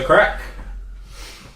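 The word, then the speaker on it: Craic: go out on a limb and say that Craig Irish Red. Crag. Crag. Crag. Craig. It's crack. The crag. It's pronounced crack.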